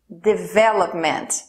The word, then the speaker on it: development: palavra de véu média development de véu o argumento last story development isso significa desenvolvimento a sílaba tônica é a segunda de véu médio então